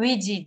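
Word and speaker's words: 위치: Ya herkesin okunuşunda ya hani yazabilir takıldığı bir şeyse bu vici diye okunuyor.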